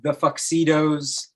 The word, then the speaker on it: Fuxedos: You want to find the name The Fuxidos. It's spelled like tuxedos with an F, so it makes a fuck sound.